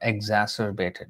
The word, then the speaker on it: exacerbated: Sorry, exacerbated. Yeah, that's the correct pronunciation.